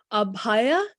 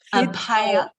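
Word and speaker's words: अभय: Then we showed you, give me the pronunciation again. Oh, Abhaya. Abhaya.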